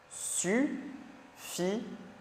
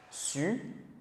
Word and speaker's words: suffisant: Suffisant. Suffisant. Ok, donc on prononce comme s'il y avait un seul S.